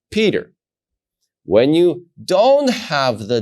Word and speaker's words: Peter: When you have the dot in the letter Pei, you're going to pronounce it as Pa, like Peter.